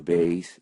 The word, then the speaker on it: Bayes: utilizando el teorema de Bayes o el teorema de Bayes si lo pronuncian en inglés. De ahora en adelante yo diré Bayes.